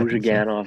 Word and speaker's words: Ozhiganov: But they also picked up Igor Ozhiganov, right? Is that how you say it? Yeah, Ozhiganov, like from the KHL.